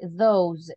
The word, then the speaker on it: those: Ok, esto sería así como decir those, y como con una Z, como que vibre, those, all right, those